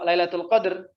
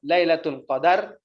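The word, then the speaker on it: ليلة القدر: wasallihi itu bermakna takdir kalau Lailatul Qadr itu sukun dalnya al-qadr biar ini cuma sedikit Saya ingin meluruskan pengucapan saja arang tidak bisa membedakan kadang antara lailatul qadar sama Lailatul Qadr ini tidak ada Lailatul Qadar al-qadar itu sifat bagi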